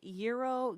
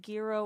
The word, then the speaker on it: gyro: lose so there's no do you guys say euro Giro or gyro euro I say go back